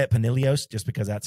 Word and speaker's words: Pinillos: want to say it Panilios just because that's how Miles says it. That's Pinillos. How they say it. I'm pretty Sergio sure it's Panilios. It's Panilios. The double L makes a yes sound.